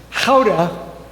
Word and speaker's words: Gouda: And then I learned that it's pronounced how.